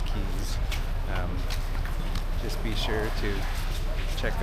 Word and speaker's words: Cays: It looks like it's pronounced Princess Cays, but they call it all Princess Cays.